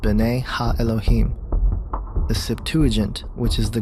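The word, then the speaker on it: bene ha-Elohim: of God mentioned here in the Hebrew is pronounced bene ha Elohim the Septuagint which is the Greek translation of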